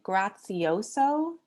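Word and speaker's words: Graziosi: things i'm looking at my notes um dean grazioso that's how you say his name he spoke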